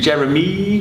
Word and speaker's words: Jeramee: at the beginning so it's oogle more and jeremy it's actually spelled with two e's at the end so it should be jeremy hartleby and ooglemore i give some time to the pronunciation of that title because a lot of